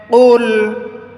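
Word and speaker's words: قُلْ: هو الله أحد قل কফটা টক্কর আওয়াজ দিয়ে পড়তে হবে কুল কুল বললে নরমাল কাফ হয়ে যাবে দুই নক্তাওয়ালা কফের মধ্যে টক্কর আওয়াজ দিয়ে পড়তে হয় কুল হুয়াল্লাহু হুয়াল্লাহ লায়ের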